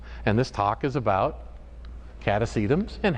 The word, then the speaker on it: Catasetum: bit yeah alright so cata sedum is simply pronounced a lot of orchids are not simply pronounced but catice items are cat a seat um nothing to it the word